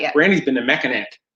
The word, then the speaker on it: Mackinac: Brandy's been to Mackinac. It's Mackinac.